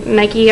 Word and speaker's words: Nikkie: Next, I want to talk about Nikki Tutorials. Pretty sure that's how you pronounce her name. It could be Nike. I had a friend named Nike, like Nike, but this is Nikkie.